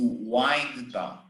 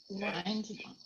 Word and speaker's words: wind: So that's why it's important to pronounce correctly, because to wind down doesn't exist, okay? It's to wind down. Wind down.